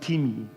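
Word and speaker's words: τιμή: I think it's pronounced timi. Spelled time.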